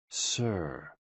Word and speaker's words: SI: shh, with a deep sigh, which is associated with the liver. HE, pronounced like her, with a yawn, which is associated with the heart. SI, pronounced like sir, with a slow exhale, which is associated with the lungs.